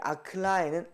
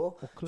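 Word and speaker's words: אָכְלָה: 그래서 아클라라는 발음으로 하지 않고 어떻게 해요? 오클라라고 읽는 겁니다.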